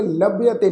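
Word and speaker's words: ਲਭੵਤੇ: तो इसका पाठ उच्चारण करांगे लभ्यते लल्ला भब्बे नूं सिहारी, उस तो अगे ऐड़ा अखर फिर तत्ते अखर उत्ते एक ला की मात्रा लभ्यते।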